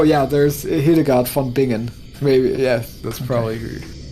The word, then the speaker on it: Bingen: Well, there is the town of Bingan. It's Bingan. Bingan. Okay. But people also actually say bingen as to binge for shows and drink.